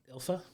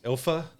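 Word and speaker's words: Ylfa: they pronounce her name Ila Ila it's if you look how it's written it's so weird but it it kind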